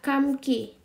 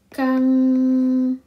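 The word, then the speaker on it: 감기: Kita contohnya adalah kamki. Nah, bacanya itu bukan kamki. M bertemu G ini bukan kamki, tapi bacanya adalah kangki. Pertanyaannya adalah kangki.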